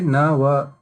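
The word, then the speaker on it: नव: So you have to say na wa. So both at the ending of na also a sound should come and va also a sound should come. Then only it's a complete pronunciation.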